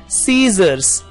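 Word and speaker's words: scissors: कि स्कूल में जो लेटर एच है वो साइलेंट लेटर है। सीजर्स, सीजर्स में एस के बाद जो सी लिखा हुआ है वो साइलेंट लेटर है।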